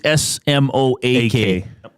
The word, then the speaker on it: Smoak: And it's he was SMOAK. Spelled like cloak.